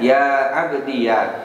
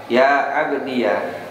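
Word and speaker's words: يا عبديَ: Kemudian yang kelima atau cara yang terakhir, dengan mengkasrohkan huruf akhir dan memfatahkan iya mutakalimnya ya, dan ditetapkan ya mutakalimnya. Jadi membacanya ya abdiyah, ya abdiyah.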